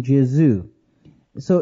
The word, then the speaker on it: Jesus: became J and became Jesu so it's basically it's the Greek way of pronouncing a Hebrew word okay when when you